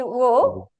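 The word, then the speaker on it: を: But it's actually technically supposed to be wo, but mostly you're going to pronounce it as o.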